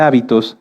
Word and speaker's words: hábito: muchas definiciones de hecho si cambiamos el acento de la palabra hábito lleva acento en la a se refiere a esto a nuestras costumbres y si lo cambiamos hacia el final es habitó que viene de habitar fíjense que como en